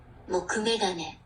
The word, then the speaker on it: mokume gane: So you pronounce this like, okay, everybody listen up. mokume gane, Mokume gane.